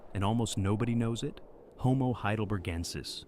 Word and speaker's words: heidelbergensis: Homo heidelbergensis, pronounced hay-del-berg-en-sis, is what scientists call an archaic human.